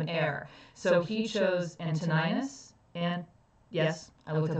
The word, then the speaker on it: Antoninus: But Hadrian was the emperor at the time, and he didn't have an heir, so he chose Antoninus. And yes, I looked up how to pronounce that, Antoninus.